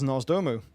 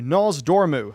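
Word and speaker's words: Nozdormu: the magic flowing through him and here is nos domu sorry nasdormu i should say it right i always mess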